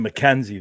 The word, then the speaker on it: MacKenzie: MAC, like the Big Mac from McDonald's. Kenzie. But you pronounce him Mackenzie, though.